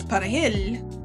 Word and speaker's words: perejil: Spanish is perejil, and Haitians would pronounce perejil with a French accent, and in Dominicans perejil with a Spanish accent.